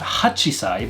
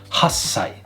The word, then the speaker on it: hassai: 8 is not hachisai, but we do the same thing that we did with ichi, and we drop off the chi sound and make the s sound longer. So not hachisai, but hassai.